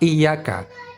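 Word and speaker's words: إِيَّاكَ: Berarti pada kalimat iyyaka saja kita dapati 3 kesalahan. 1, ya bertasydid. 2, alif mad dibaca panjang. Yang ketiga, huruf kaf dibaca tipis. Berikan dulu hak iyyaka, iyyaka, baru kita pikirkan cara baca na'budu.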